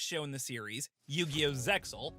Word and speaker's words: Zexal: Zexal, or Zale if you prefer the original pronunciation, Zale?